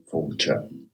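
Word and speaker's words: Fáilte: Falter is how you say it. F falter slancher fulture.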